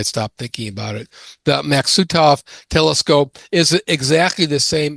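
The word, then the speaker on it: Maksutov: I keep wanting to pronounce this matsukov even though I spelled it correctly here. So I may slip back to doing that until I stop thinking about it. The Maxutov telescope is exactly the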